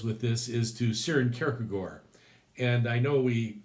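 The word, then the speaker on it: Kierkegaard: and Socrates so notice it's not kiry gard and Socrates okay I'm giving you the kagor that's the Danish pronunciation I learned it from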